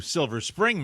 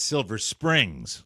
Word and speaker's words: Silver Spring: when they don't know just like they refer to Silver Spring Maryland as Silver Springs yeah put an S on it I think it's great